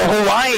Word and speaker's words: Hawaii: k-a-p-a-a so and then the w's are sound like v so hawaii is actually properly pronounced hawaii are these tour